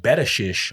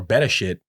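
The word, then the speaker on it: בראשית: um Genesis from the Hebrew was originally pronounced betish or beteshit with which in the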